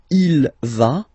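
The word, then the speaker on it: il va: Basically, you pronounce it like for the T because you don't pronounce the final S. Okay. Ilva.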